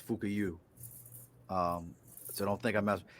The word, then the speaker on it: Fukuyo: And look, I pronounce that Fukuyo. So for y'all think that I'm messing with somebody's name, Nope. The man's last name is Fukuyu.